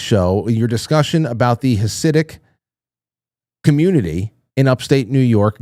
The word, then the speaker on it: Hasidic: It's Hasidic, Sidic, not Sedic. I hear Hasidic. Whenever I say Hasidic, somebody says, what do you want, acidic? Alkaline? I don't give a shit. I asked the internet, what is the phonetic pronunciation? And it said Hasidic.